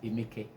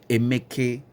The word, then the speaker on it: Emeka: So the right pronunciation of my name is Emeke. Emeke, Emeke, Emeke.